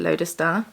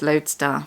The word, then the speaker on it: lodestar: i was pronouncing it lotus star because i was adding a german pronunciation on it um i can't help it it reads like a german word but apparently it's just lodestar which is bird so